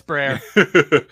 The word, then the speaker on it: Brer: was the basis of Bri rabbit am I pronouncing that right is it Brer Brier Brer it's I don't even know it's Brer all right anybody GNA give it sh I